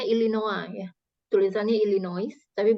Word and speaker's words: Illinois: Ya, kita akan dengar audio dan kita akan menulis ya, mencatat nih nama-nama tempat masing-masing sesuai dengan yang diucapkan. ILLINOIS. Ya, ini pengejaan ya. Jadi ini bacanya Illinois ya.